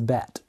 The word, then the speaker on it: Bette: I don't quite know whether you pronounce that Bette or Betty. My mum says Bette. She says she was a fan of Bette Davis back in the day. So we'll go with that.